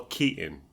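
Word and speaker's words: Keaton: my name was Michael Katon so even Michael Kon Ken doesn't pronounce a t in his own flipping name it blew my mind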